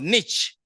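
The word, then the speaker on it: Nietzsche: to the philosopher N I think is pronounced Niche what would be the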